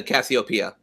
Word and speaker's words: Cassiopeia: Uh the Cassiopeia. Cassiopeia and uh who travels to a distant planet after Earth becomes nearly uninhabitable.